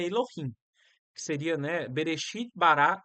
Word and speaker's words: Elohim: que se escreve ok complicado né E se pronuncia dessa forma Elohim tá essa palavra é a que tá aqui